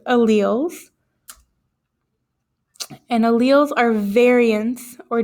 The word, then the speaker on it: alleles: YZ that's not how you pronounce it it's pronounced alleles and alleles are variants or differences in the